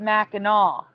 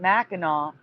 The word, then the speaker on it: Mackinac: was pronounced Mackinaw but it has always been spelled Mackinac regardless of pronunciation so it is spelled Mackinac but they they pronounce it Mackinaw no I'm gonna show